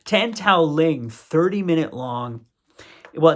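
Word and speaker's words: Tan Tao-liang: big fans of those other films there's a Tau uh tan sorry I keep saying his name wrong tan Tao Ling 30 minute long well it's like about it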